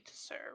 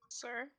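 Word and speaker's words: Tser: guys can make it t-s-e-r that would be to sir right sir t-s-e-r they can be more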